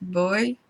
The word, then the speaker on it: Bui: I believe his middle name is pronounced Bui, B-U-I, Tran. John Bui Tran, okay?